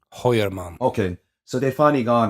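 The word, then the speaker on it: Heuermann: Hoyerman.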